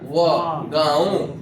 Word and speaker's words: गाँव: में आकार है, तो गा पर चंद्र बिंदु है तो इसका आकार है ना, तो उच्चारण हो जाएगा, यानी गाँव।